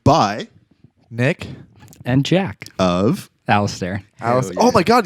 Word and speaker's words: Alistair: How are we officially pronouncing the band name today? Alistair. Yeah, it's with an I. Okay. So Alistair.